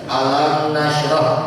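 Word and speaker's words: ألم نشرح: Maka dibacanya ini tidak ada ditahan, tidak ada dengung, langsung saja. Alam nasroh, tidak alam, enggak ditahan seperti itu, ya.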